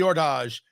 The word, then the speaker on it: Hors D'Age: but from La Aurora the Ordage. H O R S D Apostrophe A G- E. I wasn't pronouncing it right at first, but we got it figured out.